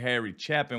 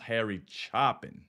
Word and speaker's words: Harry Chapin: uh Harry chopping at first I said his name wrong I said Harry Chapin when I first reacted to him y'all like no hey though it's pronounced Harry chopping because I think I did the Cats in